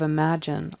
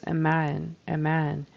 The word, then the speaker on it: imagine: It's a J sound, it's spelled with a G, but he kind of leaves that out altogether and says imagine. You know, we got to have that J sound in there. Imagine.